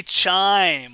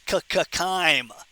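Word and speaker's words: chyme: Now, the lumin up here would contain something called kime. Don't say chime. When we have the pronunciation test, don't say chime. It's ckime.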